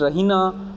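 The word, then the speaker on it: Raina: रना चिल्लाती है रना सी pronounce it रना with stress on the double E वो उसको प्रोनाउंस ऐसे करती है रना मतलब डबल ई पर वो स्ट्रेस डालती है शी गोज टू द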